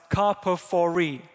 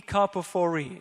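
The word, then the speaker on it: καρποφορεῖ: The next word is gi, like a g sound, and then the final one is karpophori. Automati, he, gi, karpophori.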